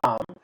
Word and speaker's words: Dham: And we usually in the past and even now many places used to have a system called tam, which is spelled as dham dham, but pronounced as tam, and that is like